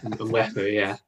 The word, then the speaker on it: Mwepu: Tell the listeners, if you can, Sam, about Enock Mwepu. And am I pronouncing that correctly? I'm not sure. That sounds about right. Mwepu, yeah.